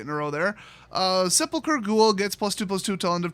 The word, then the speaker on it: Sepulcher Ghoul: Next up we got Sepulcher Ghoul. It's a 2-cost 2/1. Yes, that is how you pronounce it.